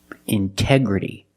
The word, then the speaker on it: integrity: We have the stress after the NT. We pronounce the T like a pure T. T. Release the sound. intoxicated. Integrity.